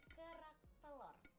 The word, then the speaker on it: kerak telur: Can you say it like kerak telur?